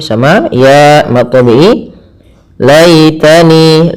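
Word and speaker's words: يا ليتني: Laitani, lai sembut, ya, lembutkan, karena di sini ada hukum tajwid yaitu bacaan lin, yang dimana ya dan waw termasuk huruf lin yang harus lembut dalam pelafalannya.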